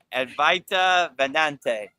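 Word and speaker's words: Advaita Vedanta: Advaita Vedante.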